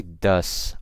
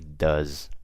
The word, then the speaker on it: does: But when I'm talking about goes, does, is, you guys see, I'm pronouncing it not with an S, but with a Z. So I didn't say goes. I say goes. I don't say does. I say does.